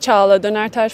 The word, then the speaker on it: Çağla Dönertaş: It's Çağla Dönertaş from Turkey. I'm so glad you said that. Why? I find it very difficult to pronounce non-English names. Really? Okay, Çağla.